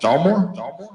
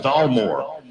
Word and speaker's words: Dalmore: Dalmore? Yeah, Dalmore.